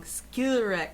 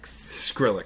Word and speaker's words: Skrillex: And I always say this guy's name wrong. Skiller. Skrillex.